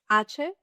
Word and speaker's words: hache: As we said, hache is silent.